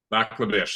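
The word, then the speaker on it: Lac La Biche: And did I get the pronunciation right on the place you live, Lac Le Biche? Lac Le Biche, that's correct, yes. Biche.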